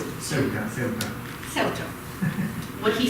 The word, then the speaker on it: Ceuta: How do you pronounce it? Ceuta.